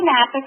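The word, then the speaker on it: Knappick: Sandy Nappick, again, with a silent K as the first letter of her last name, is your go-to person for these NHSN questions.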